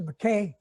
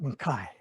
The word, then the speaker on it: Mackay: married in jane mackay half the family pronounced the mckay half makai the real scots call it makai i married her in